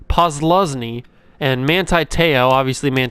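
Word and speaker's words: Posluszny: linebacker we got paul paul pulls lesni i always get his name wrong paul posluzny and manti teo obviously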